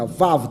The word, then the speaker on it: vav: 这个 v 就是那个 vav 的读音，然后就这